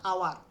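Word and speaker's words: hour: আওয়ার আওয়ার আওয়ার আও আর এটাকে বলে আওয়ার বলে হ্যাঁ এটাকে বলে আওয়ার এখানে দেখো ও এর মত প্রায় অনেকটা উচ্চারণ আসছে এইচ এর মত আসছে না ও এর মত আছে ওয়ার আওয়ার আওয়ার ঠিক আছে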